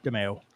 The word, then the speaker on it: DeMayo: DeMayo. Yeah, Yeah, I've heard it pronounced DeMayo a lot more, but yeah, those letters.